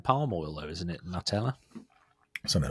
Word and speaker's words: Nutella: I found out yesterday that Nutella is actually pronounced Nutella.